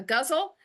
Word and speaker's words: ghazal: So I am going to be calling it a guzzle. I wanted to get that out of the way because I didn't want the distraction of people thinking I don't think she's saying that right.